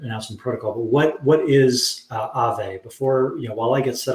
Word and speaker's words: Aave: It's pronounced Aave. So basically, okay. Aave comes from Finnish word, which is ghost.